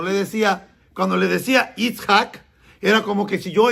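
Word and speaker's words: יצחק: Claro, cuando usted lo lee en español, porque hay que transliterar fonéticamente la pronunciación del hebreo, Yitzhak, y lo más parecido fue Isaac.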